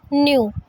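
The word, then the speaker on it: knew: ध्यान रखना है कि हम इसे क्यों नहीं पढ़ेंगे, क्योंकि के यहाँ पर साइलेंट होता है, इसलिए हम इसे पढ़ेंगे आई न्यू।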